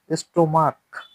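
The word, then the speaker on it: stomach: এজন্যে এস যোগ্য হইছে স্টোমাক দেখো ক আসছে উচ্চারণে এজন্য স্টোমাক্স হইছে তো দ্রবটাও সেম আশা করি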